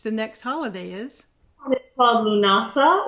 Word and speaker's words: Lughnasa: next holiday is well Lughnasa what some people pronounce it luna stuff and that is August